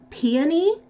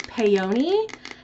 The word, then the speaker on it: peony: also realized something because I've never heard the word peony pronounced before I always thought it was peyote and I recently heard it spoken and I was like no I put up a video where I was mispronouncing it now look like a